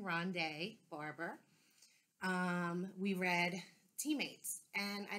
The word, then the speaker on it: Ronde Barber: found out how to say his correct name Ronde Barber we read teammates and I didn't realize it